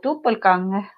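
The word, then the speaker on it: Doppelgänger: For me, it would have been like a double gang or something, like twin. But the way that you have been spelling it, and for me, as knowing German, I say it like a Doppelganger.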